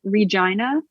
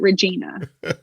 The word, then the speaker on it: Regina: Like, how did someone not hear that and go, hey, we probably shouldn't call it that because it sounds a lot like vagina. Let's at least pronounce it Regina.